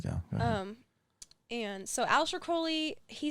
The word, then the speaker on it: Crowley: to Crowley Crowley well he said Crowley because it rhymes with holy listen I know him